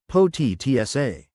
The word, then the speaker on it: Potica: That's when I stumbled upon Potica, pronounced Potica.